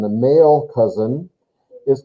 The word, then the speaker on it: Cousin: This is a masculine cousin. A male cousin is called der Cousin. And that's how it's pronounced. It doesn't follow the German pronunciation, it's French, but der Cousin.